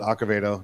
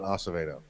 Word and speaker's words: Acevedo: acavado uh and yes he does pronounce it acovedo not acevedo so uh for those